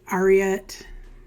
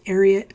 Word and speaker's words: Ariat: uh some people say ariet arot but it's actually actually pronounced arot cuz it's named after Secretariat the racehorse apparently at least that's